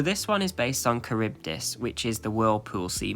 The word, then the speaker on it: Charybdis: into either Scylla or Silla, I think it's pronounced, and Charybdis. I don't think that's how you pronounce it. Hang on a sec. Charybdis is how you actually pronounce it.